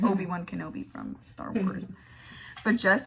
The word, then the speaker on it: Kenobi: We call each other Homie-Wan Kenobi, like Obi-Wan Kenobi from Star Wars. But Jess sometimes has never seen Star Wars. And she just tends to say, Kenomi? Because it rhymes with a homie.